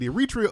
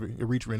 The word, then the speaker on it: Eritrea: from Eritrea yeah yeah how do you pronounce it is in Eritrea our reach Eritrea is it's like however you somebody either one I was having this